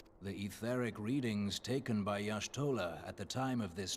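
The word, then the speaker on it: Y'shtola: manner of Ascension the etheric readings taken by yashtola at the time of this Transfiguration have proven most enlightening wait that's how you pronounce that name what thanks for telling me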